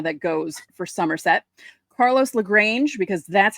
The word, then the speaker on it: Carlos Lagrange: Carlos Lagrange, because that's how you say his name, Bob Lorenz. It's not Lagrange or whatever you were saying.